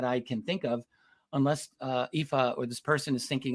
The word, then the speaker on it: Aoife: Our first one comes from Aoife, pronounced Aoife.